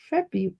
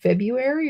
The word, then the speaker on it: February: Do you say February or do you say February? Being a teacher, I try to get the kids to spell it correctly. So I just started saying February, and then you see it, or then you hear it, I should say.